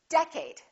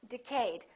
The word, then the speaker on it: decade: at the first word did you say decade or did you say decayed is it for a syllable or second syllable the first one it's decade repeat in the next decade a lot of people make a mistake and they say decayed let's take a look